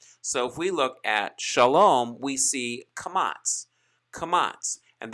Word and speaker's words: shalom: c a closed syllable as in shalom shalom translated cha lom that is from the